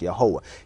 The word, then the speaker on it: Yehovah: The Creator in the Bible, described as Yehovah, that is sometimes mistranslated as Yahweh and Jehovah, but pronounced Yehovah.